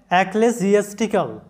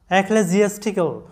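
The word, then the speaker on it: ecclesiastical: তাহলে কি হবে যে এস আই জি তাহলে একলে জিএসটিক্যাল একলে জিএসটিক্যাল এ শব্দের অর্থটা হচ্ছে যাজকীয় পরবর্তী শব্দটা লক্ষ্য করো এই শব্দটার উচ্চারণটা হচ্ছে কনফ্রন্টেশনাল কনফ্রন্ট্রেশনাল মানে হচ্ছে মুখোমুখী বাংলা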